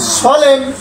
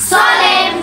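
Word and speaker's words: solemn: এল ই এন এন এল ই এন এন সলেম সলেম সলেম সলেম সলেম সলেম আমরা সলেম বলছি এর উচ্চারণ নেই এখানে এইচ ওয়াই এইচ ওয়াই সবাই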